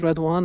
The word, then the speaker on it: Redouane: background my background well my name is red one as I was explaining to you even before before it pronounced like red as a color and one as a number that's the easy one